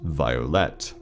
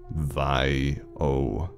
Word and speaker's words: Violette: It is pronounced Violet. Violet.